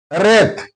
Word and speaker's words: wraith: Wraith. Here W is followed by R. That's why W is silent.